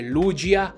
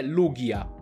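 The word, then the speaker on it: Lugia: tex sul 3ds e dice lucia ma non è esatto se vogliamo farla breve possiamo fare riferimento al nome giapponese che è lughia e potrebbe finire lì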